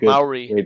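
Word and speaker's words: Māori: really like Maori.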